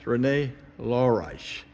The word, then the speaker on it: Rene Laureijs: in the Netherlands with the Euclid project scientist Renee lorice I hope I pronounced your name correctly Renee that's correct and